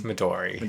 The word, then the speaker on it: Midori: Maduri or Midori? It's Midori.